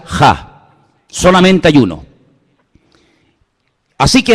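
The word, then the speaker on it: ה: Se pronuncia Ja.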